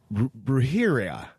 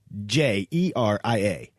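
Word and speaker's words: brujería: It's brujeria. Oh, God bless you. I know. Witchcraft in Spanish. Johnny, I'm sorry. I know I did not say that right. It is spelled Brujeria, but it's witchcraft in Spanish.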